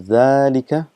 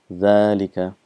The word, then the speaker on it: ذلك: uh reminding you that it's pronounced as zalika but this alif is omitted because of constant usage and it's written as zelika but it's still written the same pronunciation of zalika so it's exactly like